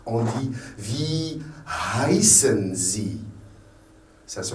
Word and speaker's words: heißen: En allemand, on la prononce. C'est un H. H. Quand vous rappelez, quand on a parlé du verbe heißen, c'est un H. On prononce le H. Heißen. Si c'était en français, on dirait heißen.